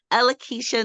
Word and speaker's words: Ellakisha: Well, tell the But people how to yes, say it correct again, it's Ellakisha.